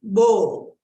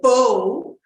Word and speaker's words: Bo: Bo, bo, simply bo. Don't change that bo to a bow. It's not bow, but it's bo, bo.